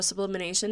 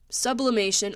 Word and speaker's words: sublimation: And let's see, 4th of July, you know, sublimination again. Sublimation. Oh my gosh, guys, I keep saying it wrong. My friend kept making fun of me, like saying it's not sublimination. So sublimation.